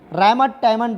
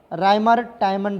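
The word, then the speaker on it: Reimer-Tiemann: और इसको बनाने के लिए हम यूज करते थे रायमंड-टायमंड रिएक्शन। राइमर टाइमन रिएक्शन, राइमर टाइमन, आप देख लेना स्पेलिंग क्या है, राइमर टाइमन रिएक्शन।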